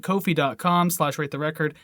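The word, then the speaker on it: Ko-fi: kofi anyways they uh that's how they say a cup of coffee but anyways it's pronounced kofi and basically what kofi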